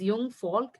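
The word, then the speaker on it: Jungvolk: Jung Folk means, it is pronouncing as Jung Folk in the German language.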